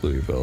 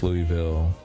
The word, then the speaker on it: Louisville: In Kentucky, we don't actually pronounce Louisville the way it sounds.